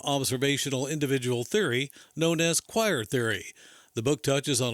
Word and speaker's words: QOIR: the book is available on Amazon just search choir Theory that's spelled q i r Community perspective is a